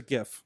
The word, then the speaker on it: GIF: I go GIF. I don't care. Okay. If that's politically incorrect. Okay. I'm going with GIF. I like the hard G.